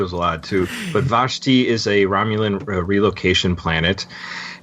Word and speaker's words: Vashti: starts off on a planet I think it's vashti vashti yes actually how you pronounce it and adventures coming up an awful